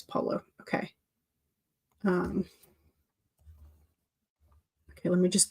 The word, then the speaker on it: Paulo: It might be Paulo. I feel like that's not right. Paulo. Yeah, it's Paulo.